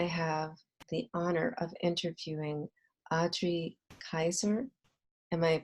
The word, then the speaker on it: Adri Kyser: Dallas today I have the honor of interviewing Audrey Kaiser am i pronouncing your name correctly yes you are and